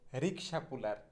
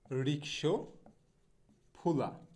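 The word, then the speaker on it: rickshaw puller: নো, রিক্সা পুলার হবে না, সঠিক উচ্চারণটা হবে হচ্ছে রিক্সো ফুলা। হ্যাঁ, উচ্চারণটা এরকম হবে রিক্সো ফুলা, রিক্সো ফুলা, রিক্সো ফুলা। হ্যাঁ, রিক্সা পুলার না, রিক্সো ফুলা।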